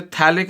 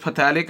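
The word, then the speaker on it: phthalic: डाईकार्बोक्सिलिक acid या जिसे थैलिक acid भी बोलते हैं। माइंडेड ये पीए जो आपका ये साइलेंट है इसको आप थैलिक एसिड बोलोगे। पथैलिक एसिड नहीं बोलना इसे इसे थैलिक एसिड बोलोगे।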